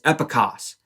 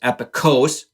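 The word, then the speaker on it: epikos: so that word is epicos it's not even found in the bible and side note as it caught on it caught on as epicose so not even pronounced properly because it was hard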